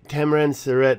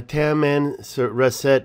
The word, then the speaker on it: Tamanrasset: explorers that I went around Africa found the tamarind surrett River I would say it wrong the tamanrasset River was quite large it came out and